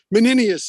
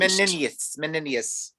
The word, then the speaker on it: Menenius: Menenius is how I usually hear it pronounced. Menenius.